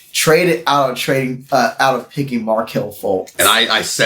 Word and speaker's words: Fultz: It's Fultz, right? It's pronounced Fultz.